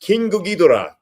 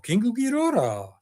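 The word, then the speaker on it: King Ghidorah: Hey, Richard, I love the way you pronounced Kingu Ghidorah. That's the way it should be pronounced.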